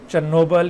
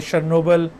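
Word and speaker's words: Chernobyl: चेरनोबिल या शर्नोबिल, ये मुख्तलिफ तरह से इसको प्रोनाउंस किया जाता है.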